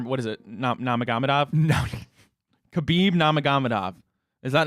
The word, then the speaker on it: Khabib Nurmagomedov: Khabib, I got Technically, that it's like Habib. Like, they don't say the kid. But it's Khabib Nurmagomedov.